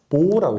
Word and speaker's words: mho: 이걸 읽을 때는 그래서 모라고 있습니다. 모. 왜냐하면은 옴이요. OHM이거든요. 이거 거꾸로 읽게 되면요. MHO잖아요. 그렇죠? 그래서 읽을 때 이걸 모라고 하게 됩니다.